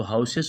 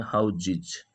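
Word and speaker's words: houses: और हाउस, हाउस में इस प्रकार से लिखते हैं, जबकि हाउस को जब हम प्लूरल बनाते हैं तो हाउसेस बोल देते हैं, जबकि हाउसेस नहीं होता है, इसका उच्चारण अलग होता है और वह है हाउजिज।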